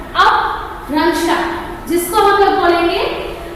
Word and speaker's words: अपभ्रंश: Aprancha क्या है, इसका उच्चारण कैसे करोगे? अपभ्रंश, अपभ्रंश, जिसको हम लोग बोलेंगे जो ये आदि भाषा